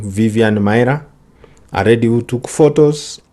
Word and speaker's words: Maier: name actually on the screen there is a misspell it is Vivian Vivian Mya so from this story what do we learn